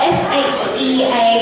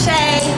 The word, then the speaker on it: Shea: It's spelled S-H-E-A. It's Irish. People often call me Shea, but it's not Shea, it's Shea.